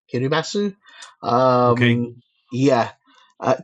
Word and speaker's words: Kiribati: I think it's called Kiribass, Kiribasu. Um Yeah. Uh k i r i b a t i, but the t is not pronounced, I believe.